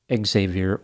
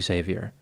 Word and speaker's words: Xavier: Breeland Jr on Tinder this name can be pronounced in two ways Xavier or Xavier in this instance the name is pronounced Xavier Xavier was divorced and had two children a